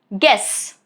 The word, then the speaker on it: guess: Silent if it comes after letter G at the beginning of a word. Remember that, okay? For example, guess, guide, guilt. All of these three, as you can see, letter U is right after letter G. So, U is not pronounced. G is gonna take care of it.